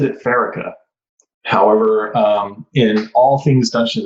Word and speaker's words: Pharika: So I've always said it Pharika.